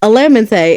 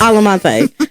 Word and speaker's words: Alamante: Siri can't pronounce it. She says Alamante. It's Alamante. don't make me mad.